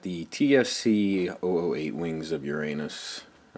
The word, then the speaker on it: Uranos: TFC 008 Wings of Uranus. Uranos, I guess you want to overpronounce the O on this unit.